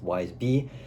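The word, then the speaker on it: Y's Bis: Next is Wise B. Yeah, I know. Where's the B in that? But trust, it says that on his website, it's pronounced Wise B.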